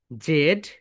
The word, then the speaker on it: Z: British হচ্ছে জেড, জেড, আর American হচ্ছে জি, জি, জি।